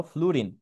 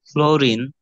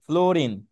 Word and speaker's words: ফ্লুরিন: তার মানে সবচেয়ে তড়িৎ ঋণাত্মক মৌল হলো ফ্লুরিন। ঠিক আছে? আচ্ছা, এটার উচ্চারণ কি হবে বলো তো? এটা উচ্চারণ কি হবে এই মৌলটার? ফ্লোরিন। হুম, ফ্লোরিন। এটা। হ্যাঁ ভাইয়া। আচ্ছা, এটার আসলে ফ্লোরিন। মেইনলি উচ্চারণ হবে ফ্লুরিন।